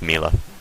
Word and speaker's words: Mila: Yeah, you're doing what Jasper did. It's Mila. Mila.